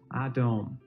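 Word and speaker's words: אדום: For example, red in Hebrew looks like this, and it's pronounced Adom, while blood looks like this, and is pronounced Dam.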